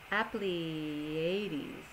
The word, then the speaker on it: Apleyades: It's Bibliotech Apleiades. It's not spelled like Pleiades, but it's kind of pronounced that way.